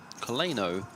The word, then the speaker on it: Coleno: Coleno is actually pronounced like co, le, no.